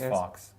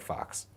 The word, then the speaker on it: Fawkes: I don't know how it's pronounced. F-A-W-K-E-S. I thought it was Fox. I think Fox.